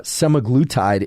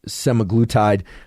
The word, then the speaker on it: semaglutide: uh such as somatic I can never pronounce this can't seem to pronounce many things it seems uh semaglutide is the the way I would pronounce it in any case this